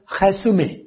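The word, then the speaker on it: résumé: रेजुमे right रेजुमे बल्कि अगर इसे फ्रेंच में हम बोलेंगे तो ये बोला जाएगा खसुमे रेजुमे ग खैन की मिला के आवाज फ्रेंच वाले जब इसे बोलेंगे तो बनेगा खस में तो मैंने जैसे बताया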